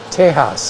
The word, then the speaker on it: Tejas: I thought it was pronounced, the proper Spanish pronunciation is Tejas, isn't it?